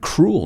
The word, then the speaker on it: cruel: and remember we can learn how to pronounce the word cruel nos cruel in english it's like the e is not in the word don't be cruel a